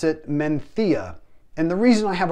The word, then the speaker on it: Mencía: time pronouncing it looks like you would say mencia and i've heard it pronounced that way by some americans on other channels however you should pronounce it menthia and the reason i have a problem pronouncing